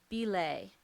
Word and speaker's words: belay: Belay. Is there any alternative pronunciations? Belay is an alternative pronunciation.